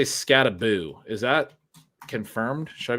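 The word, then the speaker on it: Skattebo: You always say Scataboo. Is that confirmed? Should I be calling him Scataboo? I believe that is the correct pronunciation there.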